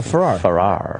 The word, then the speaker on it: Ferrer: How do you spell it? Ferrer. Oh, Ferrer.